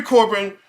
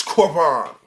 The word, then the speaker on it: Corbin: So I'm saying Corbin because I'm pronouncing it in English. Uh, in French it's corbon, right?